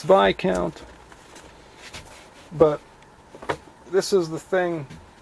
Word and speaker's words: Viscount: It's a Viscount, pronounced V count.